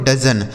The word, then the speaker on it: dozen: अगला शब्द है DOZEN, इसे पढ़ा जाता है दोस्तों डजन। DOZEN इसे पढ़ेंगे डजन, मतलब हो जाता है दर्जन।